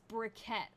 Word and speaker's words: briquettes: made some cement aha briquettes it's brickett she just doesn't know